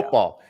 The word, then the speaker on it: football: He takes the T out.